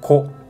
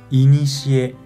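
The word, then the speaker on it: 古: Onyomi pronuncia ko, ko. Kunyomi pronuncia inishie, inishie.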